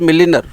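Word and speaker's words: milliner: The word is मिलिनर, आर थोड़ा silent रहता है, मिलिना पढ़ते हैं।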